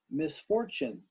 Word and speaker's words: misfortune: that you missed misfortune misfortune give me three fingers for the three syllables misfortune misfortune let me hear you